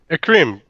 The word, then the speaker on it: Écreme: Am I pronouncing it correctly? Écreme? Écreme, correct, yes.